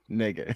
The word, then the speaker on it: Knigga: Um, yeah, we gonna talk about Noah Negan. I'm just so the K is silent.